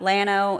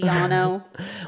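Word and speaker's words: Llano: Lano is supposed to be Yano.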